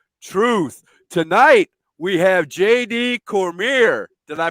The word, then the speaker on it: Cormier: Tonight, we have JD Cormier. Did I pronounce it right?